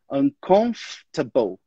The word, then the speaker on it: uncomfortable: A gente, na verdade, não pronuncia aquele O e o R. Então, a gente fala uncomfortable. Comfortable.